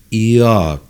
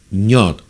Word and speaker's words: Yod: Yod. La I suena limpia. Yod. Con la Y. Yod. La I. Yod. O, si fuéramos a decirlo con la ñ, ñod. ¿Ven la diferencia?